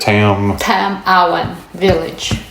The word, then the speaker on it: Tam-awan Village: Tam-Awan Village.